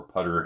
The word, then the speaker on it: ptr: And you've got a pointer called PTR, or putter as Arthur Dwyer pronounces it.